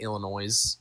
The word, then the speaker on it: Illinois: Do you know how many people pronounce Illinois like Illinois? Okay, I hear it all the fucking time, and it drives me insane. So I understand, I guess. The S is silent. Everybody don't know that.